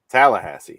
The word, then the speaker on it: Tallahassee: Tallahassee.